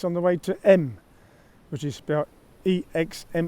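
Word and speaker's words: Exmes: coming from kovico church now this road behind me coming through santo is actually roman road that comes from bayer it goes through view it's on the way to m which is about e-x-m-e-s-x-miss pronounce m now we're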